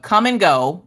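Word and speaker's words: Kum & Go: Okay, so in North Dakota, come and go, which is spelled K-U-M and go, is a convenience store.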